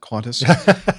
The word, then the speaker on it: Qantas: from Australia uh just some feedback regarding uh coinassa's uh accident record I think is the way you say that qantasy yes that's the proper pronunciation yes well it is true that they